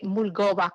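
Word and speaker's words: Mulgoba: survive and that was the mulgoa mango the mulgova mango was planted here in coconograph Florida can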